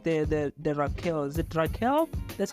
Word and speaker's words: Rickelle: Is it Rickelle? That's how you pronounce it? Yeah, it's Rickelle.